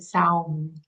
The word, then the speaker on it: Samhain: which written in English, it's Samhain, but they pronounce it Saum.